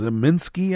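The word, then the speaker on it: Kacsmaryk: the uh Texas judge because zaminski I believe was how it's pronounced who's a mega Republican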